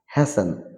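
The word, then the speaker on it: hasten: মানে দুর্গ বা প্রাসাদ হ্যাসেন মানে তাড়াতাড়ি এখানে হবে হ্যাসেন টি will be silent in the time of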